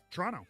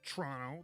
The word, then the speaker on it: Toronto: shout out Richard Toronto yep Toronto Toronto yeah that's how they say it I got yeah I